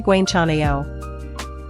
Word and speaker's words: 괜찮아요: The vowel is like the AE in cat, but slightly more open. Try Gwenchanayo.